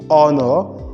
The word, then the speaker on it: honor: deciding the same thing we don't say how now we say honor honorable we say honorably honorary not ordinary so that means the h and these words are not realized so these are exceptions